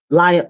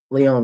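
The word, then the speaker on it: Lyon: And this happened in Lion. Leon. Leon. That's how you say it.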